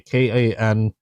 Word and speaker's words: Kansept: This is the XL concept Corvid, and concept spelled with a K, Kansept.